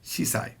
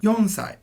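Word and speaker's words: 四歳: now four years old can never be shisai has to be yonsai five years old gosai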